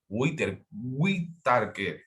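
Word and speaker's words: Whittaker: Whitaker, es como se pronuncia el apellido.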